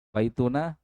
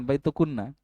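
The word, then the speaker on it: بيتنا: Baituna jangan baitunna kan kalian ditanya baik-baik.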